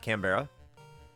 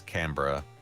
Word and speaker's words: Canberra: It's not Canberra. Yeah, it's Canberra.